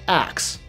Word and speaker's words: ask: medieval England the word ask was pronounced axe there are some regions in the US the Caribbean and the UK where people pronounce the word ask like axe it turns out this